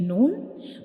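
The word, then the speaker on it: ن: And the sound of noon comes from the nose, like noon, noon.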